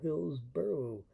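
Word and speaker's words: Hillsborough: Hillsboro and Hillsboro. Pronounced the same.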